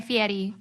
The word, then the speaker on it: Fieri: I love everything about Guy Fieri. You even pronounce his name so well.